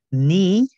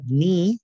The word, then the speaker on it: knee: Knee, la K es muda, se escribe, pero no se pronuncia. Knee, rodilla.